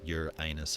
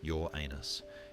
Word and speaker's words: Uranus: People can't even agree on how to pronounce it. Some say your anus, others your anus.